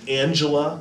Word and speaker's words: Angela: By the way, notice I said Angela because German is a different language, so you don't have that soft G sound as in Angela, like we'd say in English, but instead, this is Angela Merkel.